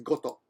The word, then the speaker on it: 事: Koto, but in this case, goto.